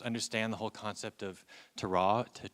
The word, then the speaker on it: terroir: the whole concept of terroir. I always mispronounce that word, but terroir.